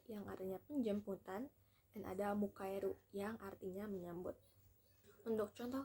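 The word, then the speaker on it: 迎える: Terdapat 2 cara baca. Secara kunyomi dibaca mukaeru, dan secara onyomi dibaca gei. Kanji ini tersusun dari bentuk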